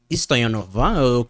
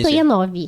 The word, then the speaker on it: Stoianov: Stoyanova? Como é que é seu pronúncia? Stoyanov.